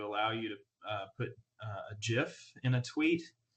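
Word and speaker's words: GIF: you to put a jiff in a tweet I think Barack Obama has confirmed that Jeff is actually the correct pronunciation so I'm going to go with that but so i just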